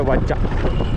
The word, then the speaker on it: Watsa: नाम है ट बट यहां के लोग इसको प्रोनाउंस करते हैं वाचा अभी हम वाचा में